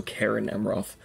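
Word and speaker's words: Caras Amroth: Roth or certain amroth I think it's think you pronounced it like you would a k so Karen amroth has been replaced with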